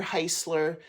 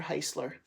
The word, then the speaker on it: Heisler: my name it's Heisler if you think of the car ch chryler that's how what my last name rhymes with Rhymes rhymes with Chrysler Chrysler Heisler okay I'll do 15